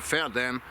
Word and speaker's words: Verden: ferdinand or felt then how we pronounce it in german fair then it's kind of connected to feared which means horse but it is not so further is more connected to ferry i mean there was